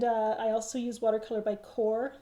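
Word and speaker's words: Qor: And I also use Watercolor by Core. That's spelled Q-O-R, and that's made by Golden.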